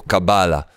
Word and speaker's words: cábala: dice por la palabra la pronunciación es cábala no cábala O cábala es cábala acento en la última a Entonces vamos a decirlo